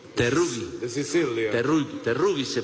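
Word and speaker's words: Teruggi: Terrucci. Terrugi. De Sicilia. Terrugi se pronuncia.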